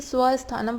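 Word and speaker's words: स्वस्थानम्: स्वस्थानम है इसकी प्रोनाउंसिएशन, शायद मैंने पहले गलत पढ़ी थी, इसे स्वस्थानम पढ़ेंगे। स्वस्थानम च आत्मशक्तिया शेषाणाम पित्त स्थानानां शरीरस्य च अग्निकर्मा अनुग्रहम करोति।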